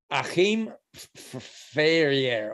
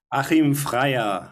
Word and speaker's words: Achim Freier: Deutsche Oper with distinguished director Achim Ferrier. Well, I didn't say that right. Daniel, I know you're back there in the darkness. Can you please pronounce his name? Achim Freier. There we go.